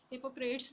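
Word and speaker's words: Hippocrates: हिपोक्रेटिस, ये बहुत बड़ा फिलोसफर भी था और साइंटिस्ट भी था। हिपोक्रेट्स भी समटाइम इसको कहते हैं, लेकिन हिपोक्रेटिस इज the right pronunciation. Gallon, gallon का जिक्र हमने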